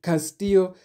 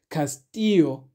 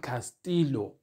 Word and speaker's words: Castillo: not say I'm like M said this he Castillo he is a Spanish speaking player and in Spanish a double I is pronounced as a y therefore the correct pronunciation of the surname should be Castillo not Castillo so we should be pronouncing it as Castillo